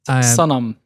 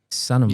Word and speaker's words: Sanam: In Arabic, it's Sanam. Sanam.